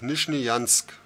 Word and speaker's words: Nizhneyansk: Nizhny and then Yansk. Nizhnyansk.